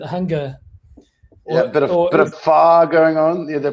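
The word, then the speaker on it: phở: I was going around calling it pho for a couple of years, actually, until someone said, no, it's pho.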